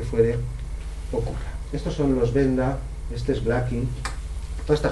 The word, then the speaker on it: Venda: Estos jamás se han encontrado, Benda se escribe con V, jamás hemos encontrado un Benda no musical.